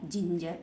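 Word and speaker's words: ginger: एन जी ई आर तो क्या बन गया जिंजर देखिए यहां पर इस जी को जी के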